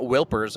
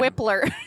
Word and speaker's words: Wilpers: Because I call him Matt Wilpers all the time. Whipler.